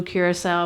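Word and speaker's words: Curaçao: from Larry about the it's pronounced Blue Curacao but he you guys all called it blue curaca because you didn't know and it's like he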